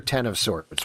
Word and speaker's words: X of Swords: a question is it x of swords or ten of swords what are we going for with this one let's pronounce the hickman of swords it's ten of